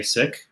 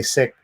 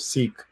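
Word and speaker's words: Sikh: preference it's to say sick and the reason why is because uh that's the original pronunciation in punjabi as opposed to the colonial pronunciation i i think that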